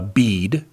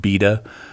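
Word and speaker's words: Bede: the first of all the name is pronounced uh beed uh in the olden days it would have been pronounced beta because we all those silent e's we have in english they didn't use they didn't used to be silent they they used to be pronounced um just like they are in german today so if you if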